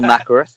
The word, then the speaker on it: Nathrakh: ANAAL NATHRAKH, is that right? NATHRAKH, I would say.